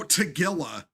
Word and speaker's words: Tagilla: Oh, Tagilla. Oh, okay. I was pronouncing that wrong.